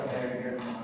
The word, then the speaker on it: Berger: Hay otra enfermedad que se llama enfermedad de Wer se escribe, creo que se pronuncia Berger, pero no sé.